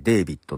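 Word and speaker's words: d4vd: これ D 4 VD D 4 VD と書いてですねデビッドって読むらしいんですけども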